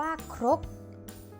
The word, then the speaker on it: ครก: คือ คำ ว่า ครก ครก อ่าน ว่า ครก เด็ก ๆ ลอง สังเกต